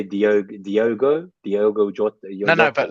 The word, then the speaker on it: Diogo: Well, instead of Jota, which is what the whole community seems to say, I would say Diogo Jota, No, but like, Jota, how have you been saying Jota.